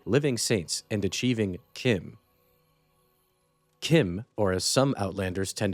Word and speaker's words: CHIM: Kim, or as some outlanders tend to pronounce it, Chim, is a sort of transcendence to an uplifted existence or state of mind.